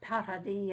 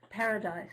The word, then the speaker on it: Paradis: And I once emailed him and asked him how to pronounce his name, whether you pronounce it Paradis in French or Paradise in English. And he said, whatever you like.